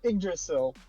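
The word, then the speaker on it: Yggdrasil: It It's pronounced uh Idrasil. Uh, Idrasil depending on what I don't know what bore you want to use.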